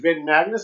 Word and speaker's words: Van Magness: Van Magness. I always say it wrong. Is it Van That's Magness? Okay. Van Magness. It's Van Magness.